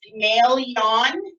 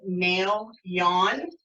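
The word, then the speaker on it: Maelyoun: dragon is known as may Leon is how you say it ma e l y OU n and has said mail yawn and he lives in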